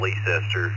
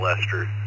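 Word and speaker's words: Leicester: The tech technical pronunciation is Leester just like in England Leester but us locals call it Lester.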